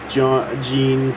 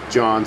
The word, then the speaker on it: Jean: John, sorry, pronounced the name wrong first.